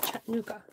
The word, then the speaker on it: Chattanooga: where molly's from chattanooga in tennessee have i pronounced it right chattanooga yes i want to do this in a